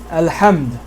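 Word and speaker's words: الحمد: Now you see this alif is ignored. Here the alif, you know what, let me just erase this so make it easier to see. Here the alif is pronounced al-hamd, alhamdu. Okay?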